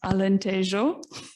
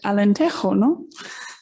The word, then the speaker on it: Alentejo: our portuguese speaking colleagues i know i mispronounced alentejo because being here in spain i said allen tejono so sorry for that alan tasia but thank